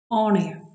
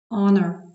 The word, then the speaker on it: honor: Але є винятки, коли на початку буква H не вимовляється, немає звука Х. Our. Honest. Honor.